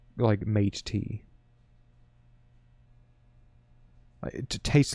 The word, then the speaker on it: Mate: Like, because in German, I know it from Club Mate, but like, we pronounce it Mate. But I don't know. Oh, it is Mate.